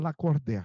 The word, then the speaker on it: Lacordaire: Lacordaire Abraão Fayad, quer dizer, escreve Lacordaire, mas pronuncia Lacordaire, e eu não sabia disso.